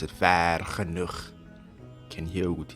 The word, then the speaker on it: Vergenoeg: Yeah, well, I like to pronounce it like the Afrikaners because that's the way to pronounce it. Vergenoeg.